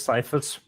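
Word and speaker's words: Ciaphas: Is it Caiaphas? No, the actual pronunciation is Cephas. Okay. According to the author, but I think it sounds awful, so I call him Cephas Cain.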